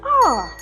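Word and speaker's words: hour: An R. This is because R starts with a silent H, making the first sound a vowel sound.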